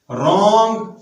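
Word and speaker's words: wrong: For example रिंग, रॉन्ग, WR कौन सी आवाज देता है? W और R दोनों R की आवाज देते हैं। W को हम समझाने के लिए बोलते हैं ये साइलेंट है, रॉन्ग, जबकि WR R की साउंड देता है।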